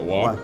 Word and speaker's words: Roy: Is it Waugh? Waugh? Yeah, exactly. But you pronounce it. Waugh. Here, you pronounce it Roy. At home, do you pronounce it Waugh? Yeah, okay. just like Waugh.